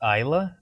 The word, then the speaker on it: Isla: It should be Isla. Like, if you pronounce that in English, that name is pronounced Isla. The S is silent.